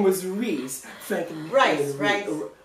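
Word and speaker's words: Reis: Frank and Rice. Oh, it's spelled R-E-I-S. But it's rice. Oh, like they spelled it wrong.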